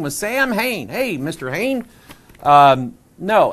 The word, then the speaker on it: Samhain: His name was Samhain. Hey, Mr. Hain. No, it's actually, it's a Gaelic word, and it's pronounced Samhain.